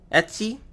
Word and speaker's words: etc: need to go to etcetera Etsy however people pronounce it httpd slash con LS